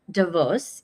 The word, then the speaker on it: Davos: Not because I was at Davos, as I've been informed is the correct pronunciation.